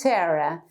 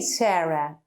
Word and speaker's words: Sara: If you compare when we say in English Sarah, her name is Sarah, we don't say Sarah in Spanish, we say Sara.